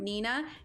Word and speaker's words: Neenah: everything and you can type in exclamation point nina n-e-e-n-a-h is how you spell that right yeah there you go the neenah